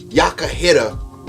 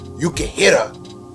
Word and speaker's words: Yukihira: Yakahira, or better yet, Yukihira. That's how they pronounce it in the anime, so I guess his name is Yukihira.